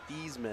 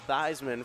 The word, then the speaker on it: Theismann: It's actually the pronunciation of his last name used to be Theismann, and then in college they changed it to Theismann for his bid, and he lost.